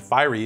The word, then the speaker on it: fiery: No, I'm saying that fiery is two syllables, for sure.